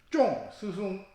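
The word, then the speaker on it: 中: 여기서 중은 우리 발음에서는 구별이 안 가지만 가운데 중일 때는 일성 쫑 이렇게 읽지만은 맞추다 적중시키다 할 때는 쫑 사성으로 읽어야 돼요.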